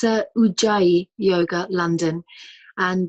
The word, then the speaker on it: Ujjayi: How are we pronouncing this? It's Ujjayi Yoga, London, and Ujjayi is Sanskrit for victorious.